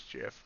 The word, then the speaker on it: GIF: we all enjoy our gifts there our gifts i forget how you found i always i always pronounce a gif i know it's jif but crude oil continuing